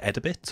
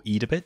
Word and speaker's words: Edabit: i was mentioning it's called edibits or edabit depending on how you want to pronounce it and it's a